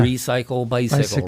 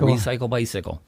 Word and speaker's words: Recycle Bicycle: So it's just, remember, it rhymes. Yeah. Recycle Bicycle. Recycle Bicycle.